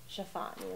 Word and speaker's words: Tiffany: Chiffani.